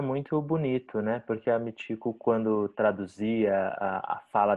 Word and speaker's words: Michiko: n Uhum Então o meu nome é eh mitico mas se escreve Mexico porque a transcrição eh por meio eu sou japonesa vim para cá com 8 anos então quando se faz a transcrição ã transcreve-se chi com o som de tium então eu